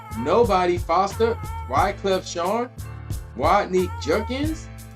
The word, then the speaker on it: Jerkins: Damon Elliott, Jerome Nobody Foster, Wyclef Sean, Rodney Jerkins, or is it no, it's not Jenkins, it's Jerkins.